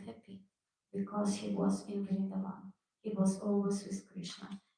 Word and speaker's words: Vrindavan: He didn't leave Vrindavan, how correct to pronounce? Vrindavan, thank you.